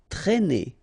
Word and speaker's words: traîner: Okay, accent circumflex here, so you should write it, but then keep in mind that you don't pronounce it, so it doesn't change the pronunciation of this combination of two letters, A and E together, it's E, okay, traîner, traîner.